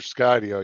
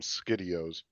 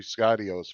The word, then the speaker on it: Skydio: He used to just call them Skidios. He mispronounced it. He'd say Skidio.